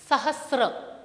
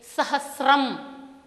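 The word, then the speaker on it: सहस्रम्: शतम, शतम, यह सहस्त्र है, सहस्त्र। कदाचित मातृभाषा के प्रभाव से यहाँ सहस्त्र स्त्र इस तरह का उच्चारण सुनाई देता है, किंतु संस्कृत में शुद्ध उच्चारण के लिए सहस्रम, सहस्रम, सहस्रम इस तरह से अभ्यास करना होगा।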